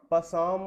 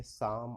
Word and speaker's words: Psalm: देखने से ऐसा लगता है जैसे कि इस पोएम का प्रोनाउंसिएशन पसाम ऑफ लाइफ होना चाहिए, लेकिन ऐसा नहीं है। PSALM को हम पढ़ेंगे साम ऑफ लाइफ।